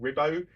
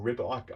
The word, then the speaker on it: Ribot: I remember this rightly, the family is called Ribot, or Ribot. I don't speak Spanish, I'm very sorry, but R-I-B-O-T. I think that's how you pronounce the surname.